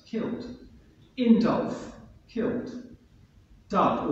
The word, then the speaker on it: Dub: Dub, or Duff, how it's pronounced, killed.